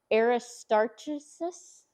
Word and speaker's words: Aristarchus: to do it how Ed told me to pronounce it. Aristarchus.